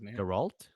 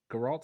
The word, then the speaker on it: Geralt: The Witcher no the one oh The Witcher Gerald geralt sorry I always say his name is geralt